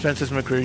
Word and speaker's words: Francis McReary: It's Francis McReary.